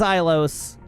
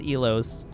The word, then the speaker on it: Ilos: You're right, it is Ilos, but I'm only ever going to be able to pronounce it as Elos because that's what comes to mind.